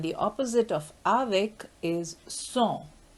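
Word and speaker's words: sans: opposite of avik is song song and this s in the end is not pronounced as it is a consonant so the pronunciation is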